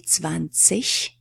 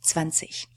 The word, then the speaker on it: zwanzig: But standard, high German asks you to pronounce that ending as "esh".